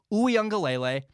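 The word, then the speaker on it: Uiagalelei: haven't heard the name here's how you say it it's dj oo young galele he's really impressed me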